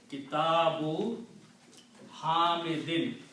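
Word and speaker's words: كتاب حميد: Kitabu Hamidin. If you stop, you will say Kitabu Hamid.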